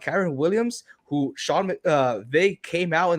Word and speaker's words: Kyren Williams: Kyren Williams.